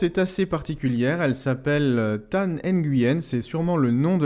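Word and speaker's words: Thanh Nguyen: La chaîne suivante est assez particulière, elle s'appelle Tan Nguyen, c'est sûrement le nom de la personne. Donc ça s'écrit T-H-A-N-H, plus loin N-G-U-Y-E-N.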